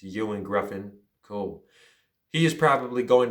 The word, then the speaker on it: Ioan Gruffudd: i i couldn't pronounce i thought it was ion gruffin but it's ewan griffin cool he is probably